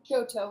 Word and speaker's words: Shoto: Shoto with an S.